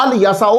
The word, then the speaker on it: الیسع: تو اس کا مطلب ہے الیسع بھی آپ پڑھ سکتے ہیں، اور آپ الیسع بھی پڑھ سکتے ہیں، کیونکہ عیسائیوں کو میں نے الف پر زبر پڑھتے ہوئے سنا ہے.